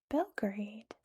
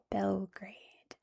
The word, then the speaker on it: Belgrade: I didn't bother to draw it out because it's not very large but obviously it's centered around Belgrade, which is how we say this city in English. Belgrade.